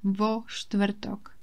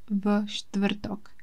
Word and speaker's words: vo štvrtok: on Thursday we say vo štvrtok, not v štvrtok. It is only because it is easier to pronounce when you add O.